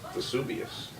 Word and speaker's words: Vesuvius: a great question then you're actually seeing Mount Vesuvius I pronounced it correctly in the distance which technically